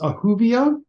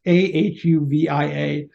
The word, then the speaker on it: Ahuvia: a website and lastly my last name is ahuvio it's spelled exactly like it sounds a-h-u-v-i-a a friend of mine once said to me it would be whovia to remember ahuvia and I I that's